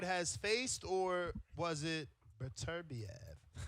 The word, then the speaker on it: Beterbiev: Yeah, I would think it would be Peterviev. Definitely. Look at you pronouncing that name all perfect. Okay, I sure Beterbiev.